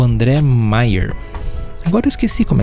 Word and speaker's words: Maier: Andrei Maier, ou Meyer. Mas se escreve Maier, M-A-Y-E-R.